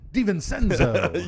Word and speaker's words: DiVincenzo: I just want to hear you pronounce that again. DiVincenzo.